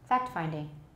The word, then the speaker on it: fact-finding: hear it very clearly most people don't say fact-finding we won't say fact-finding it sounds really wrong with no t gesture nor do they